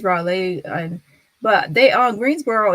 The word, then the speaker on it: Raleigh: for calling about health Raleigh oh I was saying Brolly my bad was Raleigh oops my bad what